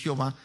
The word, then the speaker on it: Jehová: de mano nosotros hermano aquí lo pronunciamos jehová sabe si algunas personas dicen ya ver nosotros hicimos jehová llamado hermano y este